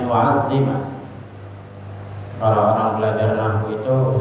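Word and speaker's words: نُعَظِّمَ: Bisa saja kita bacanya nu'zima, tapi kalau dibaca nu'zima itu kurang pas, dibacanya nu'azzima.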